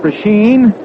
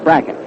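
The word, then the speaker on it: Brecheen: h n a lot of folks call it pren but uh he says that he and his family call it bracket that's good enough for us I think the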